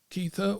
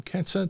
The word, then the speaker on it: Kether: Hebrew letters that spell keither or Keta depending on how you pronounce it and that basically tells you that the entire universe is formed of rotation movement i.